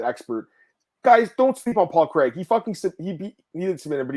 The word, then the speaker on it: Paul Craig: Paul Craig.